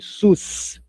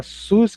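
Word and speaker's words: סוס: Exatamente essa sigla que nós temos hoje eh no Brasil desse sistema Único de Saúde, SUS. Mas aqui não tem nada a ver com o sistema único de saúde. A palavra SUS quer dizer cavalo. É outra palavra frequente na Bíblia, cavalo. SUS. Vai ficar mais fácil de gravar. É só lembrar do do SUS aqui do Brasil.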